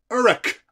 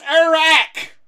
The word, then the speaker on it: Uruk: You see, you are UK. Uruk. Uk. Fucking pronounce things properly, you fucking American idiot. Jesus fucking Christ. I'm American, so I have pronounced it. It's Iraq. You know, like Iraq.